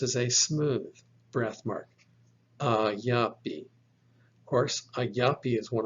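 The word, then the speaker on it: ἀγάπη: Look, for example, at this word, alpha, gamma, alpha, pi, eta, pronounced ayapi.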